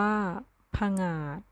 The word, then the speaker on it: ผงาด: ว่า ขมวด อ่าน ว่า ขมวด ผงาด อ่าน ว่า ผงาด สมัคร อ่าน ว่า สมัคร ฝรั่ง อ่าน ว่า ฝรั่ง